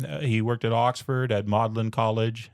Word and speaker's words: Magdalen: He worked at Oxford at Mlin College. It's spelled Magdalene but apparently they pronounced it Mlin I don't know for